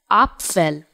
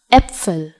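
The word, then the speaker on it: Äpfel: the first word starting with the letter A pronounced as a in German I said upell upell but as we have learned that these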